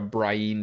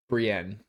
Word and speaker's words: Brienne: oh great like a Brienne chapter Brienne. I listened to the Game of Thrones audio books and the guy pronounced it brien and I was like this can't be right and it still bothers